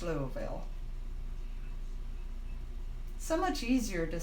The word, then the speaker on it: Louisville: Now, see, I called it Louisville. And they were saying Louisville, and finally they said Louisville, and that was correct, Louisville. But I called it Louisville because I've always said Louis.